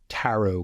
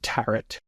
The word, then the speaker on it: tarot: because she, for example, can't pronounce tarot cards correctly. She says tarret.